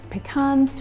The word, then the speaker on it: pecans: you could do pecans that's pecans - my American friends don't app me in the comments with the pronunciation that's just the way we say it here in Australia and then I also